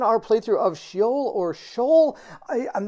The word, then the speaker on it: S.H.E.O.L.: what this means but I will be pronouncing it Shoal this entire video if anybody wants to know their if that's the two different pronunciations I found I'm excited to get